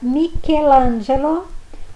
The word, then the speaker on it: Michelangelo: Che e chi. Em italiano nós vamos pronunciar que e chi. Por exemplo, a palavra Michelangelo ou do Rubinho, Barrichello. E por último, as palavras